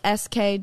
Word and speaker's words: SK-II: My favorite, I actually don't know how to pronounce this brand. You know, like SK-II?